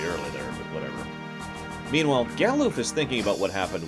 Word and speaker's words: Galuf: Oh, by the way, I know that everyone disagrees on how to pronounce names, but I once heard someone say Galuff, and I just can't take a character named Galuff seriously. I'm sorry.